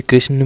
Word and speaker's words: कृष्ण: कैसे होता है देखिए कृष्ण में आखिरी में जो ना है इसको गलती से लोग लड़का या लड़की वाले जो ण होता है उसका उच्चारण कर देते हैं जैसे कृष्ण ण नहीं है यह यह अंतिम में आपको ना की ध्वनि निकालनी है अब ये ना की